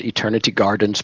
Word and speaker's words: Eternity Gardens: So it's Eternity Gardens, plural.